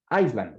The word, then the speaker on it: island: Esa, pilas, esa S no se pronuncia, es island, ready? Because Iceland es el país, Islandia, ready? Y se escribe con C. Pero esta, que es con S, se pronuncia island, o sea, la S no suena y obviamente es isla, like San Andrés.